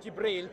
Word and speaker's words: Jibril: fact hundreds insurgency the Muhammad Muhammad would have pronounced Jibril Gabriel he wouldn't have said you believe mr.